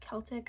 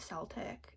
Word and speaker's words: Celtic: Also butchered pronunciation of Celtic. I called it Celtic like with an S instead of with a K.